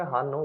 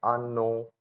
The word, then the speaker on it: hanno: English में हम पढ़ेंगे हानो, बट इटालियन के अंदर हम इसको पढ़ेंगे आनो। मतलब जो एच रहता है वो रहता है साइलेंट, आनो।